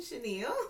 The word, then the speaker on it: Chanielle: That is actually my first name, Chenille. Thanks to my mom. Oh, let's tell a little story behind um Chenille.